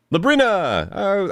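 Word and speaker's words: Labrynna: Labrina! I wasn't how I was seeing it written in my brain, but I said it right. I thought it was an I, not a Y.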